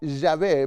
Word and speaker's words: Yahvé: En primer lugar, debe tener el nombre, y vemos que la ley de Dios dice que el nombre es Jehová, o Yahvé, mejor pronunciado, el Eterno.